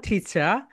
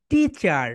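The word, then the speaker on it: teacher: ব্রিটিশরা বলবে টিচার, অ্যান্ড আমেরিকানরা বলবে টিচার। সুন্দরভাবে লিখে রাখো। ব্রিটিশরা কি সাউন্ড দিবে বলো তো? ব্রিটিশরা বলবে টিচা। টিচা, 3 টাইমস রিপিট করো। টিচা, টিচা, টিচা। অ্যান্ড অ্যান্ড আমেরিকানরা বলবে টিচার, টিচার, টিচার।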